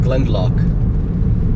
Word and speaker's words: Glendalough: because today I get to go through Glen Glen lock as it is pronounced as I learned from Tom I got